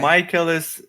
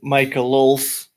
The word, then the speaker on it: Michaelis: It's Michaelis, right? Like with a long I? Whichever way you prefer. It's Okay. Michaelis, it's Michaelis. Jahar has problem pronouncing it. He says Michaelos, and I don't mind this lol.